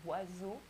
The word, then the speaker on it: oiseau: Then we have OI, which is pronounced wa, wa, like in oiseau, oiseau, which is a bird in French.